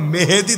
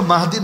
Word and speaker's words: মাহদী: বাংলাদেশে এমন পাগলও আছে নিজেকে ইমাম মেহেদী দাবি করে। মাহদী শব্দও বলতে পারে না। মূল উচ্চারণ কিন্তু মাহদী।